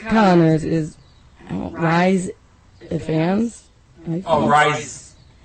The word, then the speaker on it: Rhys: Oh, Rhys. I think it's Rhys. R-H-Y-S.